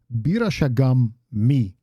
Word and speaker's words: Bira Shagam mi: Then we see Borin reply with the same thing, Shamuk, and then he says, Bira Shagam mi. Now it's important that both of these M's are pronounced.